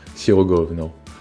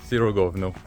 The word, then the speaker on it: Sirogojno: We will start by exploring the breathtaking open-air museum of Sirogojno, where traditional houses have been brought and where we will be learning about life in the past.